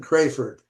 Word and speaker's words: Crafard: I've been pronouncing it Crayford, Yeah, you might but be right. I'm sorry. I really don't know. that's okay. It's Crafard.